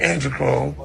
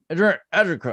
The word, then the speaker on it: adrenochrome: Now y'all can go home and drink your androchrome. You sucker ass motherfuckers. I'm cool on that. Shaka Zulu, man. Some things are that drink is your anti-chrome. You're He yeah. didn't pronounce it correctly. Adrenochrome.